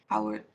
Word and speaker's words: hour: So you're not going to use hour, 2 hour, for example, but you're going to pronounce that in without H, yeah?